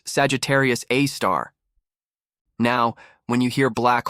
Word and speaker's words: Sagittarius A*: Lurking in the center of our own galaxy is a monster, a super massive black hole named Sagittarius A, pronounced Sagittarius A star.